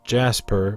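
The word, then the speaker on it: Djas Puhr: throwaway alien we do know the name is pronounced Jasper because he is named after a decipher employees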